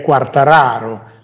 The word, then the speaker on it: Quartararo: Quartararo. Quartararo. E poi che c'hanno, straordinario. Ci hanno tirato le orecchie, perché siccome è siciliano di origine, sarebbe da dire Quartararo.